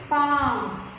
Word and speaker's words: palm: ಮಣ್ಕೈ ಅಂತೀವಲ್ಲ ಹಾಗೆ next palm ಇದು ಮುಂಗೈ ಅಲ್ಲ ಅಂಗೈ ಅಂತೀವಲ್ಲ ಹಸ್ತ ಅಂತೀವಲ್ವ palm p a l m here l is silent ಓಕೆನಾ ಅದು ನಿಮಗೆ ಇಂಗ್ಲೀಷ್